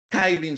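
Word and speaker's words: Kylin: porque Apache está registrado en los Estados Unidos kin se escribe k y L y n kin nace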